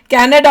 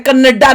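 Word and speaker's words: Canada: mummy ये नहीं है इसको प्रोनाउंस ऐसे करना है कनाडा होता है कनाडा नहीं कनाडा नहीं होता ऐसे बड़ी चीजें करती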